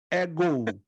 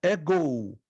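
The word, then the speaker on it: ἐγώ: é a primeira pessoa no singular no grego ego ego Ouça a minha pronúncia ego nós temos a palavra ego escute nós temos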